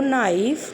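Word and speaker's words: knife: आई ओ यू, इनमें से कोई आता है तो वहाँ पर के साइलेंट हो जाता है। For example night, no, नाइफ, knowledge.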